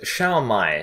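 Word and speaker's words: 烧卖: In Chinese, the food is pronounced as Shao Mai, so Funimation simply took that and said Shu's name as Shao from Resurrection F onwards, for whatever reason.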